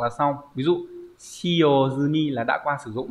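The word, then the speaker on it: 済み: Ghép vào thì đọc là zumi chứ không phải là sumi.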